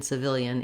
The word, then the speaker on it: civilian: on the ville syllable so now this eye that was pretty much missing here is the most important vowel in civilian uh because it has the most length and the syllable of the second syllable of vil in civilian is stressed to practice that a